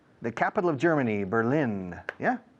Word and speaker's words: Berlin: The first one, B-E-R-L-I-N, the capital of Germany, Berlin. Yeah? Berlín, como suena, igual en inglés que en español. Berlin.